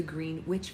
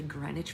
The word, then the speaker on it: Greenwich: to get to the green witch Village it's actually grenwich Village you're not even supposed to pronounce the W in Greenwich but people from out of town always say it wrong anyway as the tourists come